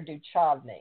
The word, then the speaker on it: Duchovny: How do you say it, David Duchovny or Duchovny?